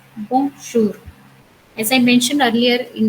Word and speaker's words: bonjour: So I would say bon, which is a nasal sound, bonjour. So now we say bonjour, bonjour.